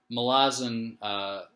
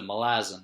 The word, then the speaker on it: Malazan: the first book of Malazan, Book of the Fallen. I think it might be pronounced Malazan because I thought the city is Malaz, or like the country or whatever it's named after is Malaz.